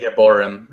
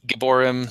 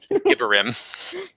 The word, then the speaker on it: Gibborim: They're calling it Gibborim in the show. Yeah, Gibborim. I always pronounced it Gibborim. I always pronounced it Gibborim because it was a comic and I had the choice to go ahead and figure it out. But in the show, and it sounds like gibberish. Gibborim.